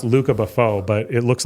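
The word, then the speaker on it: Lucas Beaufort: artist is if it's he's French so it's pronounced Luca Buffau but it looks like Lucas Bufort so Lucas _ Bufort is my favorite artist.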